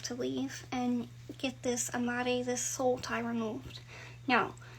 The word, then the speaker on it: amarre: Some of y'all have an amare on you. Yes, I speak Spanish, but I cannot roll my R's. What I'm talking about is spelled Amarre. It means to tie in Spanish.